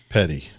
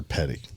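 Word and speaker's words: Pettie: Force veteran Marion petite Petty I think how do you say p-e-t-t-i-e which is what'll throw you off because it's not like Tom the other Petty that we like or or or or the race car driver Petty yeah this one's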